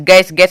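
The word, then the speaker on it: guess: है मतलब चौकीदार जी यू E dull S गैस मतलब अनुमान लगाना तो यहां पे यू का कोई भी साउंड कोई भी उच्चारण नहीं आया है गैस में ठीक है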